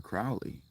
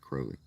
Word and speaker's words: Crowley: Ooh, Mr. Crowley is not actually how you pronounce his name. His name is actually pronounced Crowley. Cooking for the old folks?